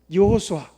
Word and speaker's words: 여호수아: 예수인데 히브리의 이름은 뭘까요 히브리적인 발음으로 하면 여호수아 여호수아가 여호수아 그 뜻을 풀이하면 우리를